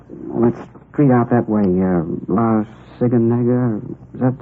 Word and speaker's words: La Cienega: Over on, let's street out that way, La Cienega. Is that how you say it? Oh, La Cienega, yeah.